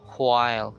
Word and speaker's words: while: So you have to really pronounce the H or blow the air there to pronounce the H. No? While.